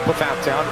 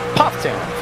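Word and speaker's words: Pfafftown: at aown North Carolina yes it looks like paa Town it is pronounced puff toown for those who might be natives to the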